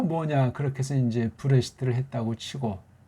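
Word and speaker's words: בראשית: 지난번에 여기 있는 모음보들은 또 뭐냐 그렇게 해서 이제 브레시트를 했다고 치고 발음이 그렇습니다. 브레시트 그렇게 발음하면 돼요.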